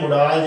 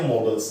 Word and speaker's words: modal: इसका उच्चारण बिल्कुल भी नहीं है मोडाल, जेकर आप बोलते हैं गलत है। ठीक है, सो इसका उच्चारण क्या है, मॉडल। म तो बाद आउ साउंड है, डिफथोंग है, आउ मॉडल।